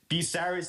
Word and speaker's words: Bucyrus: Bucyrus is Bucyrus. B-U-C comes out as B? Why wouldn't it be? Yes. Spell it again.